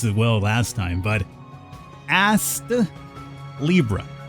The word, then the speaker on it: Astlibra: well last time but as Libra I'm going to try to pronounce that t a little bit extra hard otherwise it comes out like you know the old booty Libra that said this is